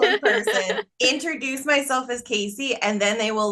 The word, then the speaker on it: Kasi: how to control them I love you Kyle but it's Casey remembery